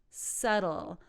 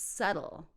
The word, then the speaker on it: subtle: last one is subtle subtle the B is silent don't say septal it's subtle number five I'm going